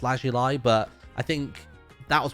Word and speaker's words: lapis lazuli: that for years uh also lapis lazuli is how I pronounce it but it's supposed to be pronounced last July but I think that